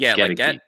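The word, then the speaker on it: Goedeke: the right wearing 67, that's Luke Gedeke, not Gedeke. Like I've been mispronouncing it all this time. It's Gedeke. No, I'm sorry. It's Gedeke. Gedeke. Gedeke. Get a key.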